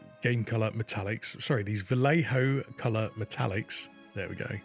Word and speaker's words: Vallejo: Vallejo game color game color metallics sorry these Vallejo color metallics there we go said it right